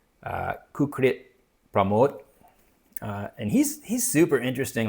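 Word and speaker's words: Kukrit Pramoj: And this one is called Four Rains, and the author's name, I believe, is pronounced Kukrit Pramod.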